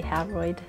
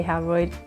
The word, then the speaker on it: Howroyd: So besides that, Janice Bryant Howroyd, I say Howroyd, I think I heard her say Howroyd at another conference, somebody said Howard, and I was like, is that right? Because her last name phonetically says Howroyd.